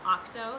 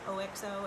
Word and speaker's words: OXO: This is from OXO, the brand OXO, OXO.